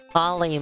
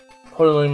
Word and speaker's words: Poloy: Poly Mountain 1. Poloy Mountain 1.